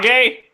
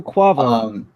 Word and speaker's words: Quavo: According to Uncle Kwa, I don't know how to pronounce it, but according Uncle to Kage? Sure. Uncle Quavo. Uncle Quavo.